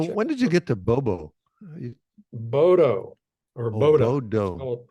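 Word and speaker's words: Bodø: itself so so when did you get to Bobo bowo or Boda Bodo b o do O It's pronounced Boda was that your final destination it was not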